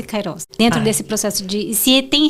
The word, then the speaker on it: Kairos: Kairos, tá certa a minha pronúncia? Perfeita.